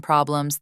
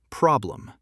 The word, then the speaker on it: problem: Every English word has one syllable that's stronger, louder, and longer, like problem, not problem. Important, not important. And if you stress the wrong syllable?